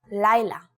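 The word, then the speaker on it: לילה: For example, the letter Hey often ends a word with an a or an sound, like in the words Laila, for night, and Boneh, the masculine singular form for build.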